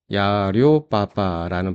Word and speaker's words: 1688: 어, 거의 대부분 사장님들께서 알리바 168은 알고 계실 건데 다시 한번만 좀 말씀드리면 어, 168이 중국어로 야료바라는 발음이 나옵니다. 즉 알리바의 발음과 가장 비슷하게 비슷한 숫자로 168을 만 사이트 이름을 만들었죠.